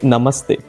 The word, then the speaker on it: namaste: So in India, if you come, you will say namaste. Namaste. Oh, really? Namaste. Yeah. What? I didn't know that. When you greet someone, you can say namaste.